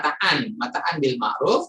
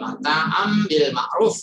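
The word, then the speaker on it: متاعا بالمعروف: Tulisan aslinya mataan bil ma'ruf, tapi karena ada mim kecil ini jadi bacanya apa namanya iklab ya, nun apa tanwin atau nun mati bertemu ba ya. Jadi mata'am bil ma'ruf kalau baca tajwidnya ya.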